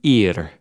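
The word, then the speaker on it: עיר: The word city in the Bible is the word ir. It sounds like the English word for, this thing on the side of our heads.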